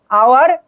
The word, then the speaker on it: hour: I will do it in dash hour and dash half, hour and half, hour এর উচ্চারণ ও এর মতো হচ্ছে, তাহলে এখানে কি হবে,